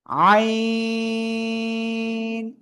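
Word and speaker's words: ع: আইন। 4 আলিফ টেনে পড়তে হবে, এই গলা চেপে, 1 2 3 4 আলিফ। আইন। দেখেন আইন অক্ষরটা হালকা একটু এরকম আছে, তাই না?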